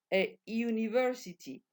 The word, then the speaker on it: university: Pues bien, como empieza por u y esta u se va a pronunciar como iu, no le añadimos la n al artículo, se queda solamente la a. Aunque la palabra empiece por vocal, no le vamos a añadir la n. ¿Por qué? Porque esta vocal se va a pronunciar iu. University, university.